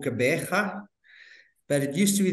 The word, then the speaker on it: Gqeberha: I'm in a place that very few English people will be able to pronounce. It's called Gqeberha, but it used to be the old Port Elizabeth.